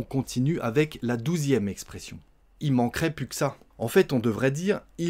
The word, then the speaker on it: il manquerait plus que ça: Mais on dit « il manquerait plus que ça ». On mange plein de lettres.